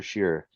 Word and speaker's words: Shearer: hi you last name hi yeah sheer I just I've been throwing out last names